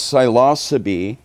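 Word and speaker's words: Psilocybe: most of them are the genus silos that's how silos is spelled um there are other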